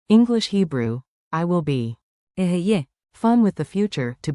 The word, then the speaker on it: אהיה: Ehyeh.